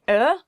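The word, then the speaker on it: øl: summer weather well so i think some of you might have problems pronouncing er er it kind of sounds like somebody hits you in the stomach you go like yeah if you get hit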